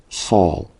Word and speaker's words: Saul: right so it's all saw just like Paul I see Solo in